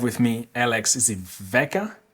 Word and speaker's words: Vela: Today I have with me Alex, is it Veka? Pronounce Veka?